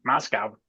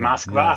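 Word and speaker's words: Москва: This pronunciation is from the US. America, just like Moscow. Nobody in Russia says Moscow, do they? Right. Right, Yeah. Moskva.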